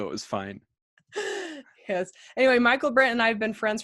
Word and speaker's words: Michaelbrent: Michaelbrent.